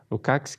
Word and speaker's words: Lukács: um senhor chamado Georg Lukács, na verdade, a pronúncia, Lukács, que fala de conscientização.